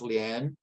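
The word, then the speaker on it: 莲: In Chinese, one egret is pronounced ilu with lotuses pronounced lian, and together they form the rebus ilu lian ke, which is a reference to success in the civil service examinations.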